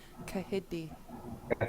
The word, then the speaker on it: kahídi: So repeat after me, hidi. Hidi. Yeah. And then starting with the K, repeat after me, kahidi.